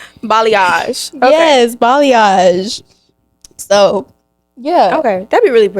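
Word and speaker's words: balayage: I don't like that b what b b balage okay yes balage so yeah okay that'd be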